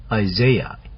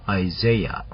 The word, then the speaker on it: Isaiah: 자, 이사야서는 영어로는 Isaiah 이렇게 발음을 하십니다. Isaiah.